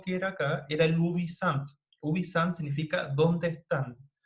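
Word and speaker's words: ubi sunt: Entonces, el tópico más cercano era el ubisant, o ubisunt, como sale ahí, pero se pronuncia ubisant.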